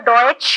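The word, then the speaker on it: Deutsche: डॉयच bank, बॉर्जन ड्यूश भी बोलते हैं कॉमन लेमन, बट एक्चुअली इसका प्रोनाउंसिएशन है डॉयच बैंक, ठीक है।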